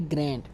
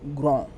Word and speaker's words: grand: In English we will say grand, but in French grand, because D is silent.